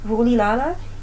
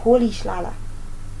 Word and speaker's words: Rolihlahla: You might think it's Rulilala, and it's wrong. So the correct way to say this name is Rolihlahla.